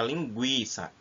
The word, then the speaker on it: linguiça: A mesma coisa aparece com a palavra linguiça, G-U.